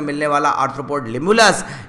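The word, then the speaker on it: Limulus: लिमुलस के बारे में देखिए, यहाँ पर स्पेलिंग मिस्टेक है, इसको ना पढ़े, आप इसकी जगह पढ़े लिमुलस। क्या वर्ड पढ़े, लिमुलस।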